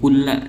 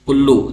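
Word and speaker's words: كلَّ: Jadi kulla dibacanya. Tidak boleh kulli atau kullu dalam kasus ini ya.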